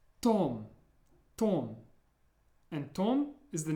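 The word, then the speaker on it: Том: Remember to watch your pronunciation of the O, however. In English, it's pronounced more like an A sound, Tom. But in Russian, Tom.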